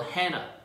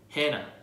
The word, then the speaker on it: Hannah: Like for example, Hannah, Hannah. Okay, the H at the end is not even pronounced in English, so it's also same in Korean.